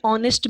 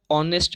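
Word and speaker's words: honest: एन ऑनेस्ट मैन, ओ का sound आया ऑनेस्ट में, इसलिए आप एन का यूज करोगे।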